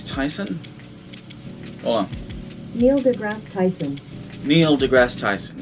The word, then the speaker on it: Neil deGrasse Tyson: hola neil degrasse tyson neil degrasse tyson is evidently how you pronounce his name and during this debate